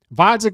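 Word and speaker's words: Gvozdyk: Vasek with a silent G.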